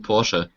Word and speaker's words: Porsche: yeah yeah yeah uh it's a German company so it's proun Porsche Porsche por I always think